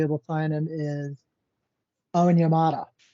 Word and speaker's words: Onyemata: to sign him, is Onyemata. David Onyemata, I believe is how you say his name.